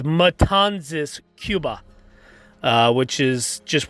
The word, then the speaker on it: Matanzas: the republic and also the correct pronunciation of the town where he took his oath of vice presidency is matanzas it is matanzas cuba uh which is